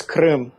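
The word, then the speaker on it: Крым: I think it's Krem in Russian. You can probably say it correctly. I probably just butchered it. But it's Krim.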